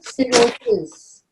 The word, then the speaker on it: cirrhosis: Yeah, if there's a C before E and I, it's called or pronounced as S, like celiac or cirrhosis.